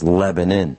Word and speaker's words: Lebanon: Lebanon Lebanon is is how it's spelled it's pronounced in the local vernacular as Lebanon I'll be on stage talking about how I